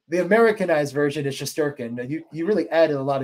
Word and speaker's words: Shesterkin: And did I even say it correctly? Shesterkin. I mean, yeah. Shesterkin. I feel like you said it more probably Russian accurate. Like, you really said it like I would say it in Russia.